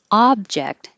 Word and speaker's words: object: yes you can and object is the verb so the ob changes to ah and the noun object the ob sounds like ob ah i did not